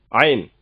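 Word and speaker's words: عين: அடுத்த லெட்டர் பாருங்க, ஐன். ஐன் இது தொண்டையிலிருந்து வரக்கூடிய எழுத்துங்க. ஐன் கொஞ்சம் உச்சரிக்க கஷ்டமா இருக்கும், நீங்க பயிற்சி எடுத்தா போதுமானது, ஈஸியா வந்துடும். ஒரு சின்ன சி மாதிரி போடுறீங்க ஃபர்ஸ்ட்.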